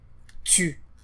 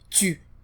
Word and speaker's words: tu: The letter U, or in French, is U, and the phonetic transcription for that is more like Y, U. And we saw that in words like tu. Comment t'appelles-tu? So this sound does not exist in English.